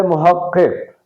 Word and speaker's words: محقق: یہ ایک لفظ ہے محقق۔ اس لفظ محقق میں جو پہلا قاف ہے اس کے نیچے زیر ہے۔ اس لفظ محقق کا